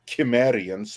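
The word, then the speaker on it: Cimmerians: Stories because Conan's people the simmerians or the chimerians as it should be pronounced I always hate that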